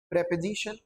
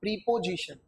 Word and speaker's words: preposition: in the same way this is preposition not preposition, बच्चे गलत pronounce करते हैं।